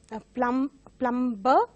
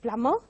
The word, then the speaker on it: plumber: And you have some words which are having silent letters, mostly mispronounced as plumber, but it is plumber.